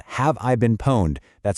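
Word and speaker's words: Pwned: There's a fantastic free tool called Have I Been Poned? That's spelled PWN.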